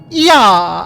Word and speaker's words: Ea: When the vibration of vocal folds was still required to convey our thoughts and intentions, "Ya," I believe, was the pronunciation used when referring to our people.